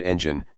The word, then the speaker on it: engine: In the word engine, you should stress the first syllable.